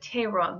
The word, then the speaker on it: Theron: used quite a bit is a surname in South Africa and they pronounce it Tyrone there which is also a